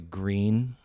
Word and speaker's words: Gruene: I really enjoy Green a lot. First time I saw it on a map, I was like, hey, what's going on in Gruene? It's pronounced green, apparently. And everything in Texas has